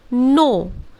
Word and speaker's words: knee: ठीक उसी तरह KNEE, we will call it नी। एन से शुरू करेंगे, सो the pronunciation will be नी।